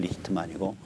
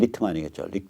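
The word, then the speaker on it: Lichtman: 이 사람이 알란 리히트만이라는 사람인데 알란 리히트만 뭐 이렇게 번역 이제 독일어식으로 번역하면 이 사람은 동구계통에서 왔으니까 리히트만이라고 동구 발음해주면 리히트만이고 미국 발음하면 리트만이겠죠.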